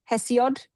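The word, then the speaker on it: Hesiod: Which how do you spell it? Hess. H E S I O D. Hess. Hessiod.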